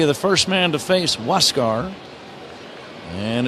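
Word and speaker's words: Huascar: A R but it is pronounced Wascar and he inherits a runner at second with one away.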